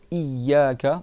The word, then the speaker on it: إياك: Il faut juste que tu doubles ya, iyaka, et tu prolonges i. C'est pas tu dis iyaka, c'est iyaka.